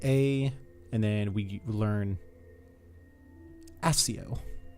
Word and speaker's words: Accio: and then we learn SEO imma say it like the book SEO they're gonna say accio but either way but cool cool you